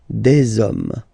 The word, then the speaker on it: des hommes: You don't pronounce it, so you get des hommes, okay?